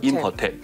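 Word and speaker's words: Imhotep: im hotep，它的读音叫做 im hotep， im 是西方的意思，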